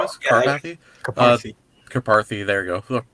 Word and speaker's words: Karpathy: Karpathy, there you go.